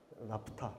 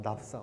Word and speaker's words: 나프타: 그래서 이렇게 나프타, 뭐 납사 어떻게 발음해도 뭐 크게 상관은 없습니다.